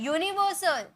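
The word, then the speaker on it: universal: है यस रंग है यूनिवर्सल यूनिवर्सल वाई का साउंड यानी किय तो कंसोनेंट है तो एन तो लगेगा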